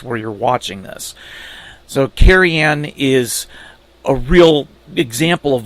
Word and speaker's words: Cerian: The name Kerianne, as it's pronounced, is a Welsh name.